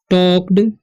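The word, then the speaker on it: talked: तो वे सी टॉक्ड, देखिए एल का यहाँ पर साइलेंट है, ठीक है, तो इसे टॉक नहीं पढ़ना है, टॉक पढ़ना है, ठीक है।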